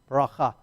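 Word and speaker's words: בְּרָכָה: All right, so let's picture that as a bet with the silent, the resh, the ah, the chaf, the ch sound, the ah, and the hay. Baracha, baracha. Baracha, bracha, the blessing.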